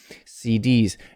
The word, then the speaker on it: CDs: now abbreviations are different in abbreviations usually the last letter is stressed more than the others like cds a cd